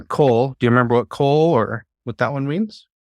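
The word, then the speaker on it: כל: preposition from from uh this one's pronounced coal because this is a closed on accident syllable so anytime you see the cough Lama together preceding a word just know it's an O vowel Cole uh Cole do you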